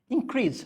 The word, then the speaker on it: increase: So when you say verb, stress is on the second one, it's called increase. When it's a noun, it's an increase.